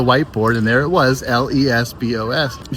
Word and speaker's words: Lesbos: the island in Cree Lesbos. And um yes, the derogatory term is spelled the exact same way, but it's pronounced a little bit differently.